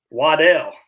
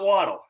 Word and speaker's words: Waddle: but it's right jalen waddell it's not waddle it's waddell um and that was